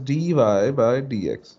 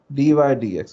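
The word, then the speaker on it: dy/dx: ठीक है, और जो इसकी pronunciation it इज dy बाय dx, ठीक है, या dy dx, बाय को हम खत्म भी कर सकते हैं।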